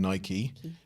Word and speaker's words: Nike: will will tell or for those people that said I've pronounced it wrong Nike the stories that they